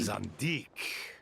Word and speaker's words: Zandik: Zandik. Zandik. So it was him. I was pronouncing it wrong.